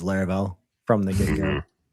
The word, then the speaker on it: Laravel: I think there's like probably like a couple pronunciations I would consider correct. Like obviously Laravel is how I say it. I don't really mind if people say like Laravel with like, you know, kind of a l sound on the front.